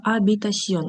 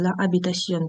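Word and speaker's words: habitación: Ля абітасьон. Х не читається. Лабітасьон кімната.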